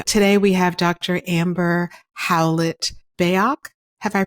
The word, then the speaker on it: Howlett-Bayoc: much for joining today we have Dr Amber howlet beok have I pronounced your name correctly correctly yes who is